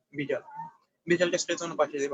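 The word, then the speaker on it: Widal: তো অনেকে ওয়াইডাল বলে, কিন্তু উচ্চারণটা হবে আসলে ভিডাল।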